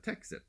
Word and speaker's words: Texit: of Newsweek is uh texit it's spelled te xit T like exit uh and uh can